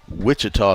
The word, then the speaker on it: Wichita: Wichita State with the CH pronounced hard, unlike Washita with the soft CH.